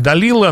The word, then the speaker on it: Далила: женщину из стана врага по имени дилайла но по-русски оно произносится как далила но я все же буду использовать английский вариант с вашего позволения так вот это самое